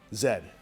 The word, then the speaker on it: zed: We're just trying to welcome all you Americans back into the world community by saying Zed, as it's properly pronounced, not Z-E, as people in the South tend to say it. Zed.